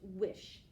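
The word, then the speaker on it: Wich: my miss and then my name is spelled w-i-c-h even though it's pronounced wish so again here's my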